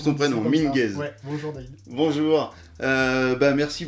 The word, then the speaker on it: Minguez: C'est bien comme ça qu'on prononce ton prénom, Minguez.